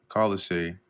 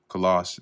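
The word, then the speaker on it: Colossae: So it says here, Filimon lived at Colise or Coloss as it's otherwise pronounced and was probably a convert of Paul and member of the Colossian church.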